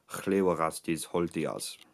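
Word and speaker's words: Hlewagastiz Holtijaz: The original Proto-Germanic pronunciation of the name would be something like Llywelgastir Holtiars.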